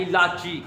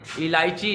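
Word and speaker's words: الاچی: इलाची होता है, बिल्कुल डाची की तर्ज पर है। डाची पता ना आपको, ऊँटनी को कहते हैं, तो उसी तर्ज पर ये इलायची नहीं होता, इलाची होता है।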